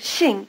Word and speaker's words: Shing: it might help to think of Shing as halfway between the first syllables of the English words single and shingle if it sounds more like shingle to you notice these two differences Shing is pronounced with the tongue farther forward and with the lips spread first try repeating Shing